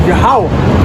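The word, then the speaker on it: Yahweh: correct in the Hebrew the word Jehovah is yahwah cuz there was no J's and no V's in the Hebrew J come into existence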